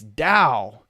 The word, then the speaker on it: Tao: Giles system and so Daoism is pronounced in English like it has a d it's Dao it is Dao taoism